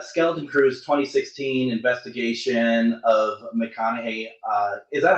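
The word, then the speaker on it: McConaghy: So the Skeleton Crew's 2016 investigation of McConaughey. Is that how you pronounce it? The McConaughey.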